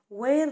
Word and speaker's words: where: Where do you work؟ Where الاتش هنا silent يعني ما تتنطقش.